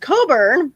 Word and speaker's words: Cockburn: We have a street that is pronounced Coburn, but it looks like Coburn, but it's pronounced, it looks like Cockburn, but it's pronounced Coburn.